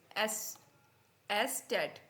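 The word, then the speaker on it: Eszett: लेकिन इसको हम क्या बोलते हैं in German S एस टेट क्या बोलेंगे एस टेट ठीक है एट ठीक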